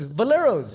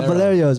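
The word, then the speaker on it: Valerio's: Boleros. yeah, Boleros, fresh baked all day. You just go, You mean just come in. Boleros? Yeah. Valerios? Yeah, Valerios.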